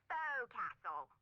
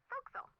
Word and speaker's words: forecastle: Try pronouncing it like an English sailor with no formal education. Forecastle. Forecastle.